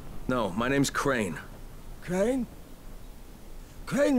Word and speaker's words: Crane: Crane rhymes with train and brain and sane and grain and rain and plane and the other kind of plane and Can I come in?